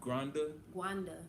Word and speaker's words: Rwanda: How do you like it here compared to Rwanda? Compared to Rwanda, and it's Rwanda, y'all. Gwanda. That's how they say it, but if to say it properly, is Gwanda.